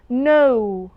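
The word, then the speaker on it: know: Well, number 2, no, no. طبعا we have a rule that every word starting with the sequence KN, the K is silent. It's not pronounced.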